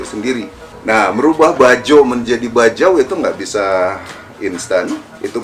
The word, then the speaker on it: Bajau: Termasuk di kamus bahasa Indonesia itu nulisnya Bajau, B-A-J-A-U. Nah, ejaan lama dia masih pakai B-A-D-J-A-U, Bajau. Nah, bacanya Bajau.